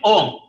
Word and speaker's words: Om: When these two are united at the center of the forehead, what do you get? Ohm. Dr. Shanmugamurthy was correctly pronouncing it. First, we start with when you close your lips, what happens? M is automatically formed inside. M means silence. So you get Om.